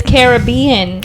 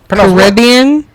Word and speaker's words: Caribbean: you actually pronounce it Caribbean Caribbean you can do both I say Caribbean because